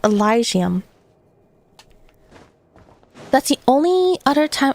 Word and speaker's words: Elysium: The best anglicized pronunciation is Elysium.